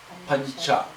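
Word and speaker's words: पञ्च: You have a Nga sitting on top of Cha. So it is combined letter. It is pronounced Pancha.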